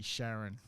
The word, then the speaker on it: Charon: realized that there's actually Charon, which orbits around it, and technically it's Charon, like the boat guy.